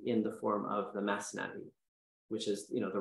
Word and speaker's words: Masnavi: find written as the math nowi which is really just it's more of an air it's an Arabic recitation of the word masnavi but Rumi was Persian speaking he was Persian background